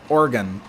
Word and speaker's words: Oregon: word so but yeah Oregon that's uh that's the proper way to say it and believe me I